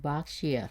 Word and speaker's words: Berkshire: Yeah, like Berkshire, not shire. Not Shire, not Shire. It looks like Shire, but it's sure.